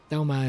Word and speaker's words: Doma: Her name is not hard to pronounce, and neither is Doma. Doma is a two-cllable word. You can say it properly.